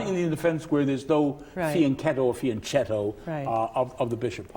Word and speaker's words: fianchetto: You say fianchetto, I say fianchetto. Yes. Because I know my Italian is better than your Italian. Because in Italian, the proper pronunciation is fianchetto.